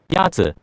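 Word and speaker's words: 鸭子: Yazi. Is pronounced with a first tone. In Mandarin, there are 4 tones, which are essential to distinguish the meaning of words. The first tone is a high-level tone.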